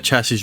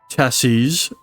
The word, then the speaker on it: chassis: chassis is also chassis however the plural is pronounced with with a zed at the end as chassis uh or chassis a chassis is the